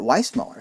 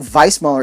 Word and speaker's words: Weissmuller: johnny it's why smaller he pronounced it why smaller so i think vice muller is of course correct but he didn't pronounce